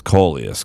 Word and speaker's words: Kollias: today and i know i said that wrong it's coleus because i've seen lots of videos and of him and that's how he introduces himself but man if you're